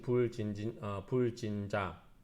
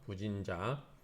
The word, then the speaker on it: 부진자: 제신 불진자. 아, 불이라고 읽으면 안 되겠네요. 부진이라고 읽어야 되네요. 부진. 그렇죠? 부진자. 불이 디귿하고 지긋 앞에서는 부로 읽죠.